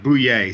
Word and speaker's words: Bouillet: It's Bouillet, so it's basically like being at a sporting event. Boo and yay put together.